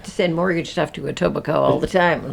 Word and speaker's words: Etobicoke: send mortgage stuff to Etobicoke all the time like a total Coke yeah it's got a K in it so I feel like